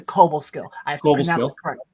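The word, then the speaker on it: Cobleskill: up to Schenectady up to Cobblestone up to Cobo skill yes I have to pronounce it correctly I got chewed out last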